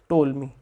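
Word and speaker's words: Ptolemy: इसको क्या बोलेंगे हम? टोलमी। क्या स्पेलिंग होती है? पी टी ओ एल ओ एल एम वाई होती है।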